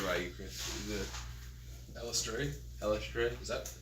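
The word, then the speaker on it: Eilistraee: think that's how they pronounce it in the audiobook that I listened to. Elistray.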